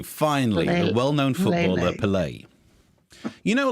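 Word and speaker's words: Pelé: Pele? Yeah. Pele? How do you say his name? I don't say it like it's an online app for exchanging money.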